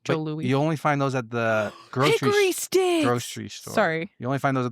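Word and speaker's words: Jos. Louis: It's spelled JOS space LOUIS, but it's pronounced Joe Louis.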